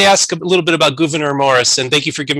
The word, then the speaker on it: Gouverneur Morris: a little bit about governor morris and thank you for giving me the pronunciation you told me it's a dutch name and i should know